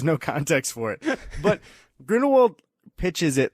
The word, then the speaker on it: Grindelwald: Grindelwald. Yeah, that was. He really stressed it too, like he was correcting everybody, and there was no context for it. But Grindelwald pitches it like, "Hey guys, we have to stop the Holocaust."